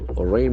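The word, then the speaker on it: reins: Okay, you have rains, R-E-I-N, pronunciation very tricky, rain, back with wily.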